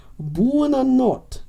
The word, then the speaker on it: buonanotte: Buonanotte or buonanotte. It is notte.